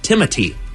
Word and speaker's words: Timothée: while it does look like Timothy with an accent over it, it's Timothy.